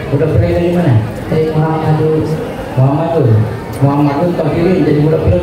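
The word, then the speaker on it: مُحَمَّدٌ: Ya, jadi Muhammad dibaca Muhammadun Tohir. Muhammadun. Dan terus kata Tohir dibaca Tohirun. Tohirun.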